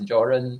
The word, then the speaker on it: Göran: So this G in Sweden, they don't have this J, they don't have this g sound, right? They don't have the G sound. So G is pronounced as this J sound. So it's Göran Strand.